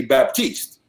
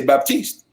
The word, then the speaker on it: Baptiste: People in English, they would normally pronounce the P, which would be Baptiste.